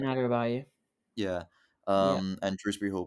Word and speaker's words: Adarabioyo: It was, yeah, and you got Tosin Adebayor. I think that's how you pronounce it. Tosin Adarabioyo.